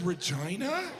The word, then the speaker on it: Regina: The capital is Regina? That's not necessary. Regina, they could have pronounced it Regina.